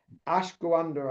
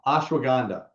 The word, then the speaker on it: ashwagandha: I've butchered I know I've butchered it. I know I've I know that I've not said it correct. Ashander, I think it is. Or can you say it better than me? Okay. Ashwag. Ashwagandha.